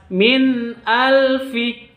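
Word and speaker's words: من ألف: Hamzah itu hurufnya izhar. Izhar artinya jelas. Jadi bacanya harus jelas. Nun sukunnya jelas, hamzahnya juga jelas. Min al seperti itu, bukan min al, bukan seperti itu, bukan dibaca dengung, tapi dibaca jelas. Min alfi seperti itu.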